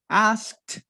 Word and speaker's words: asked: asked he asked does the correct pronunciation asked is with a t sound he asked her well